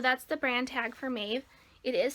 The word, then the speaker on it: Maeve: It's actually a crop jumpsuit by the brand Maeve.